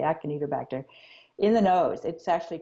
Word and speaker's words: Acinetobacter: I don't, Acina, Acinetobacter, I believe that's how it's pronounced with a K, Acinetobacter, in the nose.